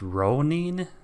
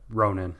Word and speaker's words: Ronan: this is ro and somebody once said that it's pronounced Ronin Ronin right someone said that in the comment section but I don't I don't buy that I vote I have every